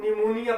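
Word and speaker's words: pneumonia: या ये दो वर्ड मैंने ब्लैक बोर्ड के ऊपर लिखे, तो इसको हम न्यूमोनिया पढ़ेंगे।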